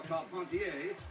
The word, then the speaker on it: Carpentier: jack dempsey advancing on george carpenter or call pontier if you prefer the french pronunciation the fight in 1921 between dempsey vs carpentier was the largest audience